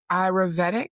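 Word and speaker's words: Ayurvedic: So you had called it sematic ayurveetic somatic ayurveeta.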